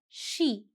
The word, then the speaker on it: she: स नहीं है, श है. अब याद नहीं रहता मैम, कोई बात नहीं. पहले 5 times just speak sh. श, श, श, श, she.